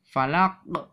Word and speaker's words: فلق: Karena diwaqaf, maka qaf ini dibaca falaq ya.